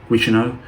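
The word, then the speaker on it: Guichenot: First discovered by a French zoologist named Alphonse Guicheneau, that's how you pronounce his name, Guicheneau, in 1866.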